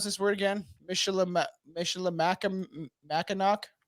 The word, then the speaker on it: Michilimackinac: How do we pronounce this word again? Michilimackinac? Michilimackinac.